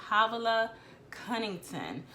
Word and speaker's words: Havilah Cunnington: I think I said her name wrong when I talked about my January goals. It's Havilah Cunnington.